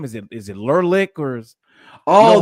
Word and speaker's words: Leclerc: Is it Lurlick or you know Oh, who the I'm talking closer, about, right? Leclerc, Yes. Leclerc, Leclerc, Leclerc.